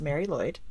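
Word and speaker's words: Mari Lwyd: And then the second word is L W Y D, but it is pronounced Mary Lloyd because it's Welsh.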